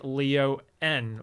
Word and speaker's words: Leo-N: Slightly less surprising then was the high-grade Leo N or Leon as you're apparently supposed to pronounce this.